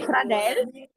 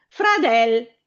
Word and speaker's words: fradel: Brava me fradel. Come lo scrive me? Con la sua e che è un accento chiuso. Brava. Benissimo. Fradel sempre con l'accento sulla e però avverto questa.